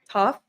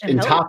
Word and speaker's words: Toph: One of my favorite scenes early on, mid second season, was with the uncle meeting up with Toph. I always think I'm saying her name wrong.